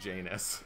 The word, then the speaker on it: Janus: like porn or whatever I always thought that name was pronounced is he honest well his is pronounced Janus clearly that's after you got